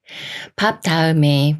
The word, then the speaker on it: 밟다: 밟다가 되는데요 비읍 받침이 초성 디귿을 만나면 초성 디귿이 쌍디귿 소린 뜨로 바뀌면서 밥 따라고 읽어요 밥다 밥다 다음 말도